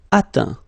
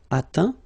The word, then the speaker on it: atteint: Atteindre, atteint. Éteindre, éteint. Feindre, feint. peindre, peint, teindre, teint. Okay, as usual, final T not pronounced. Atteint, éteint, fin, peint, teint.